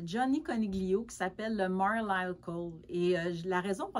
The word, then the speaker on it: Marlisle: technique particulière qui s'appelle le Marlisle, ou ça s'écrit Marlil, un petit peu comme Fair Isle, mais c'est Marlisle comme marbré, j'imagine.